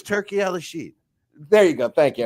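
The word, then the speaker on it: Turki Alalshikh: Let me help you with the pronunciation. Yeah, go ahead. Help. It's Turkey Al-Rashid.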